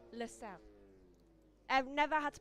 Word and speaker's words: Lusail: How's it pronounced? LaSalle. Right, LaSalle.